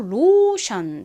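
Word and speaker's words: lotion: 번째로 로션 적어보도록 하겠습니다 익숙한 단어이자 앞에 리을 소리 나는 오고요 그다음에 오 소리 나는 오 다음 션 덩어리 철자가 오는데요 어떤 덩어리 철자가 오죠 t i o 이죠 앞에서 봤던 si 소리가 나잖아요이 TI도 션 소리가납니다 이렇게 션 소리가 나는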